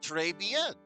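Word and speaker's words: Trés Bien: This whole mess started on the third of last month and it happened at Treyben. Trey Ben? Yeah, that's how you pronounce it.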